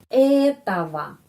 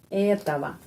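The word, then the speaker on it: этого: dan ada pertanyaan Oke Kenapa huruf o ini o ini menjadi a Kenapa karena penekanan di sini bukan huruf o ini dan bukan huruf o ini yang mendapat penekanan ya etawa etawa Terus gorada lagi ya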